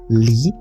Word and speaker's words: Lie: Norwegian mathematician so first Lee and yes it's pronounced Lee not like telling a lie It's lee group.